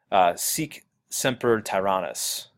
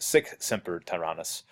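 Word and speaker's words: sic semper tyrannis: the stage and yells seek Semper Tyrannis or I guess actually pronounced sick Semper Tyrannis meaning thus be it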